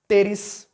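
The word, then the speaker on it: Pteris: अब उसके बाद इसके एग्जांपल्स देखो क्या है, नेफ्रोलिपिस, टेरिस, टेरिस इसका प्रोनाउंसिएशन भी ऐसे पी जैसे मुंह तो करना है मगर पी बोलना नहीं है, टेरिस।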